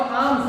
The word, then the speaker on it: alms: And short आर्म्स और ALMS, बच्चों एल इसमें साइलेंट है, आर्म्स नहीं बोलेंगे इसको, क्या बोलेंगे, आर्म्स, यानी कि भिक्षा, भिक्षा मांगी यानी भिक्षा देगी, इस प्रकार से।